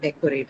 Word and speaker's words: decorate: So in usually a trisyllabic verb, the stress is always on the first syllable, right? So we looked at that example of decorate, right?